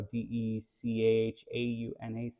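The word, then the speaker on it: De Chaunac: Deshanac, so Dechaunac. Yeah, that's That. the okay. I was So, pronouncing it totally.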